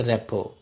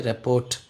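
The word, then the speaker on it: rapport: আমরা যদি এক ওয়ার্ডে লিখতে চাই তাহলে হচ্ছে র্যাপো, RAPPO, র্যাপো। কেমন উচ্চারণটা র্যাপো হয়, র্যাপোর্ট দেখতে মনে হয়, পড়তে গেলে উচ্চারণটা হচ্ছে র্যাপো।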